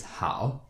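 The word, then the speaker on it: 好: The second character in our word ni hao, the second character here is hao. Hao has a third tone.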